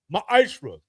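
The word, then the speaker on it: מעשר: Means 10th in the Hebrew is pronounced ma'ashra.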